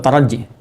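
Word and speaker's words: ترجي: La'allakum itu di bahasa Arab disebutnya dengan harfu taraji. Ya, taraji. Taraji. Bukan taraje ya. Taraje. Oh, ini harfu taraje nih, taraje bacanya gitu. Bukan, ya, taraji, harfu taraji.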